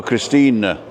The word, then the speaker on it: Christine: it Christine right but in German the E is pronounced so Christina right okay and it's